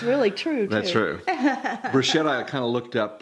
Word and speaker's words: bruschetta: And in Italian, they actually pronounce it bruschetta.